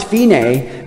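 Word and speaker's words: fine: at the find sign which is pronounced finae which is Italian for n learning music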